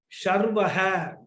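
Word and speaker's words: शर्वः: That was Sarvaha, this is Sharvaha, Shah.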